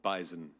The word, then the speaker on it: bison: animal that is called Bison it is it does have a z I agree with the